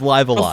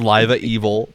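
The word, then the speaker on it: Live A Live: It's Live Alive. Before We've got an those official were all pronunciation correct. now. A lot of people thought it was Live Evil because the second live is like reversed.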